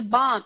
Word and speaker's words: bomb: calm for my hair there was a bomb in London so the silent B you spelled to B but you never say it you stop the the